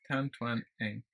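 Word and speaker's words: Tan Twan Eng: Tan Twang Eng. Yeah. Okay. Like it's spelled.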